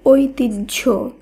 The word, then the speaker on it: ঐতিহ্য: সহ্য ঐ তৈয়ি হয় ফোলা এই শব্দের শুদ্ধ উচ্চারণ হবে ঐতিহ্য অর্থাৎ কোন শব্দে ফুলা থাকলে এর শুদ্ধ উচ্চারণে